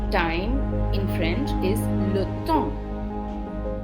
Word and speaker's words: temps: The word for time in French is le temps. The P is silent and the EM is pronounced like on.